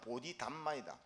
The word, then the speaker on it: 보리달마: 이제 달마는 보리달마를 이제 원 발음은 보리달마이다. 지의 이제 깨침의 법을 가진